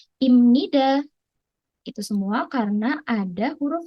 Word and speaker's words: 입니다: muncul di kosakata bahasa jadi tulisannya ibnida tapi dibacanya tetap imnida jangan sampai terkecoh ya Nah imnida sendiri